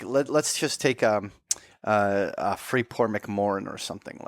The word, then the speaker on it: McMoRan: It's Freeport McMoran. Like McMoran.